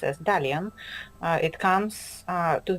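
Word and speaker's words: Dalian: name of the city which uh Chinese people pronounce as dalan uh it comes uh to the root of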